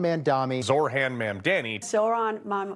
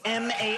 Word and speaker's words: Mamdani: Zoran Mamdani. Mamdani. Yeah, it seems like that happens a lot to the mayor-elect. During one debate, he said this. The name is Mamdani, M-A-M-D-A-N-I.